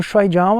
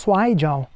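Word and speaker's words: 摔跤: as pessoas falarem mais Shuaijiao, porque Shuai, os dois jeitos estão certos, Shuai, mas é que Shuai é a pronúncia com o sotaque lá de Taiwan, de Hong Kong, enquanto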